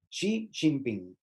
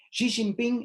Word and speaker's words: Xi Jinping: segundo es el actual xi jinping que se pronuncia de esa manera xi jinping xi jinping es el actual presidente